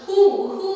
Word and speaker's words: who: காக தான் uhol அப்படிலாம் who அப்படிலாம் சொல்ல முடியாது. அதனால maybe the W becomes silent. Whoல வந்து H and O is pronounced. Who, whom, whom, whole, whole, and the W becomes silent.